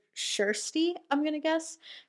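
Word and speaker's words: Kjersti: r s t i i think kj in swedish is shh so shirsty i'm going to guess shirsty johnson a 17 year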